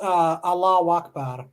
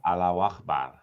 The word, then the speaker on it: Allahu Akbar: No, salam No, praise Allah is Allah Akbar. That's different. Allahu Akbar. Yeah. You say it 3 I'm a times. good pronunciation, aren't I?